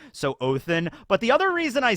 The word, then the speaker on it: Odin: so I say it oathin for a couple of reasons number one I think in Old Norse that is the proper way to pronounce Odin so oathin but the other reason